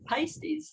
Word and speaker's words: Paiste: And I said the word Paiste, and she said, yes, you even know how to pronounce the symbols.